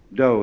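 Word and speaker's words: dō: called in Japanese Judo do is the Japanese way of pronouncing da The Gentle Way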